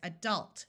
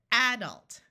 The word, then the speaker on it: adult: say this word as adult where the awas in the second syllable is accented listen again adult there are some people that pronounce it adult where the first syllable is accented and instead of having